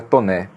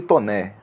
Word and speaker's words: Taunay: Meu nome é um pouco complicado porque escreve Taunay, mas pronuncia Toné. Né? Então, se eu for colocar, não, é Dr. Tauíli Toné. Né? Não tem nenhuma correspondência com a forma como se escreve, né?